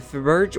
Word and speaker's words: Fabergé: In fact, in one of the rooms upstairs, Victor has a Faberge or Fabergé egg, depending on where you live and how you pronounce it, but there's more to it.